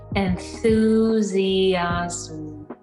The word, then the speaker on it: enthusiasm: good very good so this is a kind of a special word where we have two vowels next to each other and then we really do say each one distinctly instead of combining them into one one sound so put it all